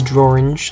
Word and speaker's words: Drorange: His name is Drorange, like dream and orange.